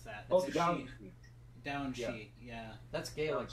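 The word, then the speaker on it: Daoine Sidhe: I don't know how to pronounce that. Oh, the Down. Down Shi.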